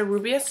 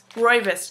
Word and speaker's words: Rooibos: And it's a Rubius tea. Rooibos tea. That's how you pronounce it.